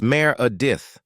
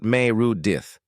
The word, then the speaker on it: Meredith: It's Mayor Adith, not Mayudith. Common mistake.